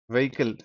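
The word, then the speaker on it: vehicle: ఏంటి like for example కొన్ని words like அவர் ఆ హానెస్ట్ హానర్ వెహికల్ వెమెంట్ ఈ అన్నిట్లో కామన్ ఏందంటే హెచ్ is silent H is silent so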